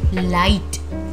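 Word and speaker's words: light: चलिए हम स्टार्ट करते हैं, जैसे लाइट, जी एच क्या है, साइलेंट है।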